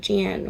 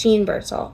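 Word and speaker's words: Jeanne Birdsall: It's not Jean, which is what I was saying before. It's Jean Birdsall.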